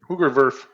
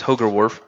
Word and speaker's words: Hoogerwerf: It's Hoogerwerf. Hoogerwerf, okay. It actually says on the Portland Pilots baseball roster, it rhymes with Nerf.